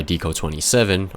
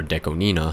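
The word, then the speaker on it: Deco*27: The original lyrics and music was by Deco27, or Deco Nina, however you want to pronounce his name.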